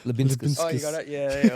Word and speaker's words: Liubinskas: Pronounce his surname, Muzza. Did you remember? I don't remember the name. Yeah. Liubinskas. Liubinskas.